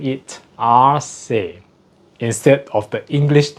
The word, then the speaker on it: ARCE: I'll pronounce it in the Spanish way instead of the English way. There's a bit of controversial here why we choose the name. It is ARCE.